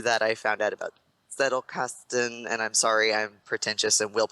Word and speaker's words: Zettelkasten: And then I found like through that I found out about Zettelkasten, and I'm sorry, I'm pretentious and will pronounce it the German way because I took German in college.